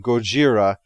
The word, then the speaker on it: Gojira: with the name Godzilla rather than Gojira as some feel it should be pronounced but the reason we